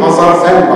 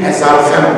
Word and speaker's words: hezarfen: Onun için mütehassis yerine ferasetli bir hazarfen bakışı, hazarfen. Doğru telaffuzuyla bir hezarfen bakışına ihtiyaç var.